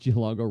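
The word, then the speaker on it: Giallongo: oh did i say zach geelongo rhymes with tombow that's funny that's a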